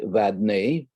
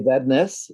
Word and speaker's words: Vadnais: guest today is emmy vadeny do i pronounce it correctly that is the uh the french correct pronunciation we say madness here in minnesota but that's correct you play vadness in minnesota okay oh